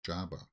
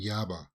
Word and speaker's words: Yaba: His name is Jaba. No, they're saying Yaba. So, they're not pronouncing the J as like in Jabba the hut.